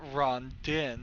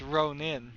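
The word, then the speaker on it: Rhonin: But it's it's not Rondin, it's Ronin. I know what a Ronin is.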